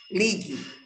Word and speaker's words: ligue: Ligue, porque o U, não, você não ouve a pronúncia do ligue. Você ouve apenas o som do E, ligue. No entanto, se escreve com a letra U.